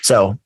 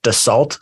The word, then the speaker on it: Dassault: it covers seven investing so why don't we get into sew systems if you're reading the title it probably looks like dassault systems uh it's just so is the proper pronunciation um and it's a